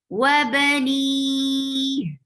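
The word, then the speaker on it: وبنيه: Wabani, and ha should be pronounced from your throat, lower part of your throat. Wabani.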